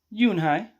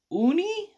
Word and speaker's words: Unhei: No, it's mine, Yunhai answered, quickly putting the pouch back in her pocket. Are you new here? What's your name? A girl asked. Yunhai, said Yunhai. Uni?